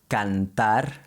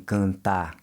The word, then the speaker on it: cantar: But in Portuguese, when you see a vowel followed by an N, that's usually an indicator that you should be pronouncing it with a nasal sound.